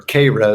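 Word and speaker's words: Cairo: Illinois Koo Illinois or KRA as they pronounce it in the town and uh um uh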